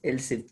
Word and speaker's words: elif: Yeah, but you should pronounce as else if only, but you have to write as elif only.